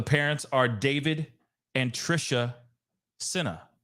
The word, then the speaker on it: Sena: are David and Trisha CNA or Senna sorry see now I'm even pronouncing it wrong but David and Trisha Senna and as you can